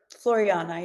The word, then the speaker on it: Floreana: Now, do I have the the pronunciation of this right? Floriana. Floriana.